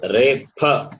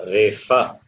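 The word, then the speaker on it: रेफ: And it is repa, not refa. Repa. There is no pa in Saṃskṛtam. Pa sound is there, but the letter pa, it is not. It is pronounced as fa in in Hindi. In Saṃskṛtam, it is only pa.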